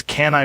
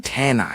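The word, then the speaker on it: Kanye: People keep saying my name wrong and honestly it's disrespectful. How are they saying it? They say Kenya West.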